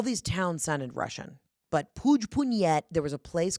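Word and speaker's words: Puigpunyent: We were staying at the Grand Sonnet is in this tiny little village called Puig-Punyet. And I am pronouncing that right, Puig-Punyet. It sounds Russian, but it's Catalan.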